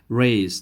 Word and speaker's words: raise: hand raise your hand raise this s is pronounced as z sound so we say raise